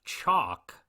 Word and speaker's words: Chaac: They then look at a mask of the Mayan rain god Chalk, which is spelled Chaac, and then we discover that Big Ed's battle axe is missing from its usual place.